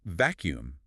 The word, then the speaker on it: vacuum: Phonetically, we pronounce it vacuum. The UU turns into a Y sound followed by a long OO.